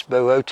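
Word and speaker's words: Boötes: of people pronounce it boots but it's Bootes ii o has got an umlaut over it toes and it has to be pronounced separately now going back to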